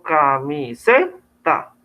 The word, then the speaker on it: camiseta: Yo no digo ni camiseta, ni camiseta, ¿sí? Sino que yo digo camiseta, ¿sí? Mire que la acentuación está aquí en esta sílaba, ¿sí?